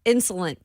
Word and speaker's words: insolent: So I will say join the I show, was being insolent towards Ramon Oh my gosh! Here we go. earlier. 1, 2, 3, 3 syllables. Insolent.